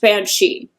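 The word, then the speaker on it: bean sí: um it looks like the Irish word was b a n SI I but it's pronounced Banshee and it means woman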